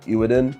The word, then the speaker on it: Eweadn: And the people over at E Wadin, kind of hard to actually pronounce this, but I'm going to call it Ewin.